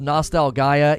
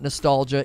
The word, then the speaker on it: Nostalgaia: The Last Hero of Nostalgaia. Yes, it's pronounced that way, not nostalgia.